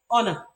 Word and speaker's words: honor: you have to know that there are certain words in which that sound is not pronounced but you want the letter H there an example of that word is the word power power don't say what do you see hour you see love the hair because the sound is not articulated it's not pronounced in that word there are a few